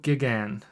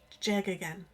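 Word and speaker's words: Geoghegan: your turn banjo J again I want to say like George because of the GE EO G okay but like there's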